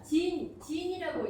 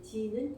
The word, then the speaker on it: Gene: 그리고 이 유전자 AKG, 진이라고 읽습니다. 중국식 발음으로는 진 AKG라고 읽는데 진은 유전자라는 뜻이에요.